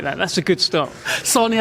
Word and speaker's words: Sahni: Sahni as in sandwich. As in sandwich, yeah.